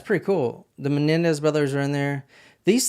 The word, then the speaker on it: Menendez: Melendez brothers in the background? Well, yeah, but they usually pronounce it the Menendez brothers.